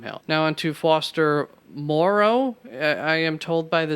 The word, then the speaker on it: Moreau: for Tay Sam Hill now on to Foster Morrow I am told by the CBS guys is how it is pronounced or at least one of the CBS